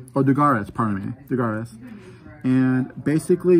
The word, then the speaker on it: Dugares: Did I pronounce his name correctly? Oh, Dugares, pardon me, Dugares.